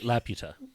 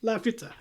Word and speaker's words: Laputa: Laputa. Laputa. Laputa. That's the pronunciation in Castle in the Sky, so Okay, fine.